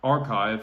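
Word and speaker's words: arXiv: found a paper recently on archive it's spelled ar xiv which is the establishment's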